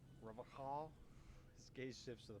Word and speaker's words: Revachol: Revocall. You said that shit way wrong. Revachol.